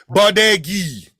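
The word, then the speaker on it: Badgui: Baudegi. That's my name. Baudegi. How do you spell that? B-A-D-G-U-I. Meaning bad guy? No. Bad guy? No. Bad It's guy. No. Badegi. Baudegi.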